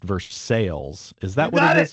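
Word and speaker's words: Versailles: And I think it's often pronounced verse sales.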